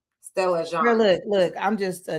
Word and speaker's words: Stella Jean: I think it's Jean, the way that it's French. So I think it's pronounced Jean. Stella Jean.